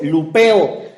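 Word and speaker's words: λυπέω: Quiero empezar diciendo que la palabra contristar viene del griego lupeo. Lupeo con acento en la E, que significa afligir, angustiar o causar tristeza.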